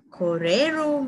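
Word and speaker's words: kōrero: And koreru means speak. These are some examples on how to pronounce in Maori language and their meanings.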